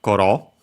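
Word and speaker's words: 頃: After it, we have koro, which is a noun. So again, the usual verb in attributive position, here also with the adverb before it, mo. Koro, actually, koro, accent on the first mora.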